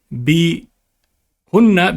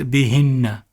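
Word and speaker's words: بِهِنَّ: And instead of becoming bihunna, becomes bihinna. Bihinna.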